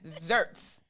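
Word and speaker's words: xertz: Yes, zerts. Zerts. Okay, it's spelled with an X, but it's pronounced with a Z. It's one of those, you better pay attention in school. Z, X gives the SZ sound.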